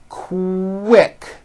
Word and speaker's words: quick: So, for example, the word quick is pronounced with a K and a strong W sound.